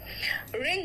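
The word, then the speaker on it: wring: ठीक है, नेक्स्ट आओ डब्ल्यू साइलेंट है, इट्स राइट, डब्ल्यू साइलेंट देखो, रैट, रैट मतलब गुस्सा, रिंग, रिंग मतलब निचोड़ना, ऐसे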